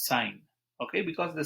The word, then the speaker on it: sine: so what is uh sine theta what is uh sine theta i am writing s i n but don't pronounce it as sin it is sine okay because the spelling